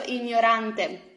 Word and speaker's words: ignorante: It is ign, ny, ny. Okay, ny. Lo gnomo, gli gnomi.